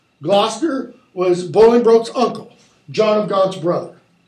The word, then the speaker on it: Bolingbroke: Then, Bolingbroke, it's pronounced Bolingbroke, actually, as low as to thy heart through the false passage of thy throat thou liest.